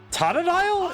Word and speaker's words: Totodile: Totodile? It's Totodile. That feels weird. The way he pronounced that scares me.